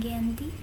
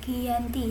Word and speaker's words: Giyanti: lokasi penandatanganan perjanjian yakni di desa Janti dalam pelafalan Belanda ia tersebut sebagai Giyanti dan secara tertulis ia